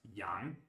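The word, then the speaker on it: 羊: The right side of the character above is a character which means sheep and is pronounced yang.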